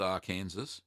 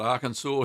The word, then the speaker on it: Arkansas: Arkansas and not present not pronounced Arkansas but I can saw here say happy birthday